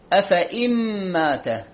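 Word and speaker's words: أفإين: خلت من قبله الرسل، هذه أفإن مات الياء عليها دائرة مستديرة ما تنطق، هذا يسمى الصفر المستدير، ما تنطق هذه الياء، فتصير أفإن مات، نجيب كسرة الألف والنون على طول ونمشي.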